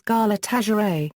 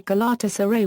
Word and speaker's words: Galatasaray: It is important to keep in mind Galatasaray is a compound word and it is pronounced as such. The most common mistake that is done by non-Turkish speakers is to intonate as Galatasaray, while the correct enunciation